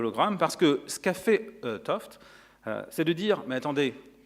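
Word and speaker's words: 't Hooft: Gerhard Toft, alors attention aux jeunes, ça s'écrit Teouf, mais ça se lit Toft.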